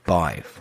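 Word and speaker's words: Badb: But my personal pick, the new Residence Bar, Bive. That's B-I-V-E. No, it's B-A-D-B, but it's pronounced B-I-V-E.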